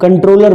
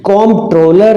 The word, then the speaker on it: Comptroller: News में देखते हैं, कभी वो लोग कंट्रोलर बोल देते हैं, और बहुत से स्टूडेंट्स भी कंट्रोलर ही इसको प्रोनाउंस कर देते हैं, तो वो कंट्रोलर पे टिक लगा के आ जाते हैं। तो कंट्रोलर CONTROLLER नहीं, कॉम्प्ट्रोलर हैं COMP।